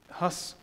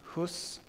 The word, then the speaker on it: Hus: Next, Huss rejected those diktats, those statements, those declarations, the bulls that the Pope issued, which actually banned preaching.